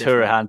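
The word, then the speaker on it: Hourihane: I watched a podcast about him trying to pronounce his surname. It is Hourihan, isn't it? Or is it something? It is Hourihan.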